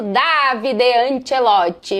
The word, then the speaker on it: Davide Ancelotti: É assim mesmo que se pronuncia em italiano, Davide Anchelote.